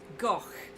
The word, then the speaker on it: Gogh: it's about vincent van gogh not go gok that's how it's pronounced he's dutch so it's not go it's gok anyway i get really